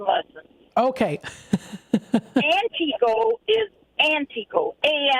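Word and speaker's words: Antigo: places so I'm going to give you some pronunciation lessons Okay antio is antio a n TI Go o I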